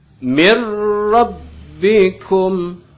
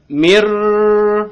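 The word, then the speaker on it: مِنْ رَبِّكُمْ: Mir rabbikum. Jadi cukup dimasukin aja langsung tanpa harus ditahan. Jangan mir, nah, enggak gitu ya. Tapi cukup ditekan aja lalu baca ke depannya.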